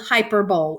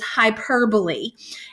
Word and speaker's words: hyperbole: how to say this this is hyperbole this is not called hyperbole even though that's exactly what it looks like the way that you pronounce this figurative language is hyperbole and hyperbole is when